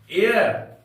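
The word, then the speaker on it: heir: number eight में है एयर एच ईई आई आर इसका उच्चारण एयर पढ़ेंगे हम लोग उसमें एच साइलेंट है इसका अर्थ होता है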